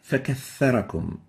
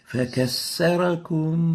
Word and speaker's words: فكثركم: The first mistake is to pronounce it as a sin. You exchange the tha with a sin. And instead of saying فَكَثَّرَكُمْ, you might be saying فَكَسَّرَكُمْ فَكَسَّرَكُمْ sin instead of the tha.